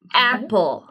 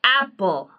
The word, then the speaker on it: apple: A 발음 중에 에 발음은 우리나라 사람들은 그 everyday 할 때 에 발음이라고 발음을 하세요. 하지만 에 해보세요. 에. 자, 에 하실 때 에 발음은 턱만 밑으로 내리시고 혀가 보여야 돼요.